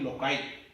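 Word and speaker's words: loci: लोकस, लोकाई, इसका pronunciation बनेगा लोकाई।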